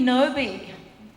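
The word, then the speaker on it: Knowby: character's name is Ruby Ruby noi noi with a silent k you know that name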